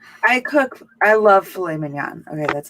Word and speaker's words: filet mignon: I love filet mignon. Okay, that's like my favorite steak ever. Saying it wrong. It's filet mignon. Whatever. That doesn't have a T at the end.